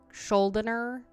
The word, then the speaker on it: Schuldiner: I never can pronounce his last name. Chuck Schuldiner. There you go. Schuldiner?